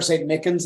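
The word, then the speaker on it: St. Michan's: Micans or St. Mickens is how it's pronounced.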